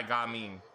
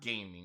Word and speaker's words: Gaming: All right, let's try Gaming. I'm really glad that I was right on how they pronounce that name. I was like, I seriously doubt it's actually pronounced gaming. It's probably pronounced Gaming.